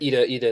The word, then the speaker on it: Ida: Ida is how it would be pronounced in Polish.